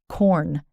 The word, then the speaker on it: Quorn: It's called Quorn, and it's spelled Quorn.